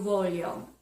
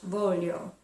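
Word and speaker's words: voglio: or a cappuccino okay now I want you volume you volume I want you volume I want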